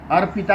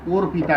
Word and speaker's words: अर्पिता: अर्पिता लिखना होगा, वो लोग और पिता करके उच्चारण करते हैं।